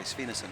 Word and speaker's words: Svindesund: Is my pronunciation okay? Svindesund, it's good, is it?